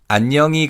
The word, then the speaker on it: 안녕히: And in terms of pronunciation, again, here in he is barely audible in natural speech. So it's 안녕히 가세요.